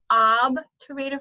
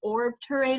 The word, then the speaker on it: obturator: called the obturator foramen ab to radio form and now be careful some people try to put an r in there and call it the orb terrain or foramen there's no r it's obvious and the